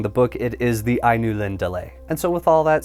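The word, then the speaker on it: Ainulindalë: saw the word I knew Lindellay, I initially pronounced it I knew Lindale because that sounded the most accurate to me, but after consulting the book, it is the I knew Lind delay.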